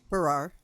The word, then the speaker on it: Farrar: Farrar.